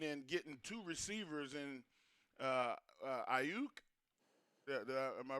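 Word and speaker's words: Aiyuk: So they found need in getting two receivers in Ayuk. Am I pronouncing?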